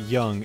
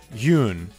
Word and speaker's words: Jung: Carl it's it's not Jung it's not young it's Carl J I think it's y Carl uh actually actually Carl Carl okay hold on Carl Yun I believe that's how you pronounce it yeah Carl Yun contributed